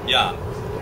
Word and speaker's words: Jahn: say your last name yan yan which is German German and you have